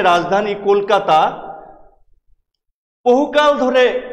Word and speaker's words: কলকাতা: রাজধানী কলকাতা, বহুকাল ধরে এই শহরের নাম কলকাতা। ইস্ট ইন্ডিয়া কোম্পানি আসার আগে থেকে এই জায়গাটির নাম কলকাতা। কিন্তু ওরা এসে এটাকে বানিয়ে দিলেন ক্যালকাটা। ক্যালকাটা অর্থাৎ আমরা নিজেদেরকে বিকৃতভাবে দেখতে পেলাম ওদের উচ্চারণে।